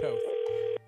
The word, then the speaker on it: Toth: She is pronounced Toth.